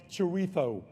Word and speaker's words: chorizo: That final was the worst thing Spain has done to England since teaching middle-class white people it's actually pronounced chorizo.